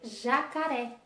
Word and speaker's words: jacaré: Como, por exemplo, nós podemos ter jacaré, tá? Jacaré, jacarés, será acentuado, última sílaba mais forte e acentuada, tá?